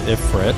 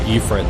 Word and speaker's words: Ifrit: That is Ifrit, or Ifrit, depending how you want to pronounce it.